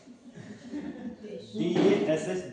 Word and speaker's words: DASH: तो टॉपिक का नाम है DASH। क्या फिर मैंने बोला DASH, दाश। क्या है? दाश। प्रोनाउंसिएशन करेक्ट करने की कोशिश ना करें, जस्ट एंजॉय लीजिए। ठीक है, दास।